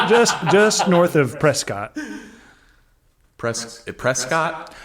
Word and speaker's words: Prescott: Prescott. I think they pronounce it Prescott. Prescat. Yeah. But it's Prescott, Arizona. Okay. Now that I'm saying it, Prescat sounds insane.